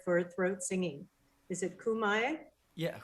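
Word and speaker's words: khöömii: question for you uh tamir how do you pronounce the mongolian word for throat singing is it kumai yeah homie thank you so much we'd love to have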